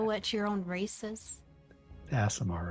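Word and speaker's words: Aasimar: Asimar, right? Yeah, I just Okay. don't want to say it wrong, because it sounds naughty. You'll get a pass. Okay. Like assassin. Be proud of that ass. Asimar.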